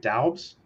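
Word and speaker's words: Doubs: Their 4th round pick, Romeo, is it Daubs? Wide receiver from Nevada. Mm-hmm. I think know. That's how you pronounce it, Daub.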